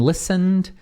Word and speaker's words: listened: Lembra que também não pronuncia esse T aqui.